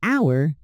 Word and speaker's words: hour: We say an hour because the H is silent.